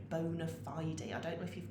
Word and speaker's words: bona fide: lovely you pronounce it bona fide you actually say the e on the end bona fide i don't know if